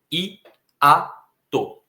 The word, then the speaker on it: hiato: Se você for separar as sílabas de hiato, você vai ver que é uma palavra trissílaba. I-a-to.